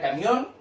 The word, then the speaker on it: camión: La palabra camión, ¿cierto? Que es una palabra aguda con tilde, y la palabra velador, que es una palabra aguda sin tilde.